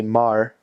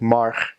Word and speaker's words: maar: an R, like just kind of regular Dutch would say maar, but in Brabant, they're like the province I was in, they'd say like marg, and it almost sounded like there's a G on it.